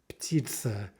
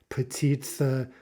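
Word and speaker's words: птица: Not a combination we're used to making, P with T. And so you might have the urge to break that up somehow and say something like petitsa, petitsa, because you're not used to making petitsa, petitsa. Again, how many syllables there? Well, two vowels, ergo two syllables.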